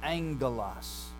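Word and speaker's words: ἄγγελος: So we get the word angel from angelos, okay? That first gamma becomes a nasal in pronunciation, ng. So it's like our English word sing, ring, that ng sound, that's what happens to it.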